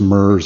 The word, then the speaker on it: Merz: I don't even know if I'm pronouncing that correctly, and I'm really dating myself here, but it's pronounced Merz.